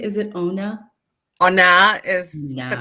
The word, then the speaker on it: Onah: I mean presence of rosaling Ona did I pronounce that correctly is it Ona Ona is the correct way but uh I